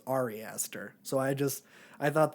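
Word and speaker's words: Ari Aster: then he proceeded to call the guy um Arie Astor which I think his name is Ari Esther so I just I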